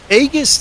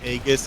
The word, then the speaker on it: Aegis: then you bring out Aegis and it's like, oh my, because Aegis from way back in the day was built as a tank set. Aegis. Aegeus. Aegis. That's how you say it in Greek.